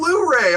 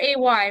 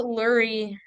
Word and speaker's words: Luray: Yes, Lurray, right? yeah, that's right. That's crazy. I always pronounced it Lurie, like No, Murray, Luray, Lurie.